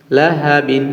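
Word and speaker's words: لهب: বা দুই জের বিন লাহাবিন লাহাবিন কিন্তু অক্ষরের সময় আমরা লাহাবিন বলবো না বলব লাহাব লাহাব দ্বিতীয় আয়াতে যেমন কাসাব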